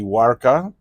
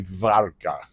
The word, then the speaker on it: Warka: This is called well the English pronunciation would be wara but uh but the Polish pronunciation would be var uh var high quality